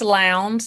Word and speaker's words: Lowndes: is it loud is how do you pronounce the middle school you're at it's just lounge like one long word influencers that students get